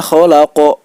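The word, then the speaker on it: خلق: Untuk huruf qaf dan huruf ta, cara membacanya yaitu dipantulkan seperti bunyi huruf o. Min syarri ma khalaq.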